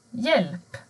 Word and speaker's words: hjälp: Men har du H och J tillsammans, då försvinner H. Du hör bara J. Till exempel hjälp, eller hjälm, eller hjärna.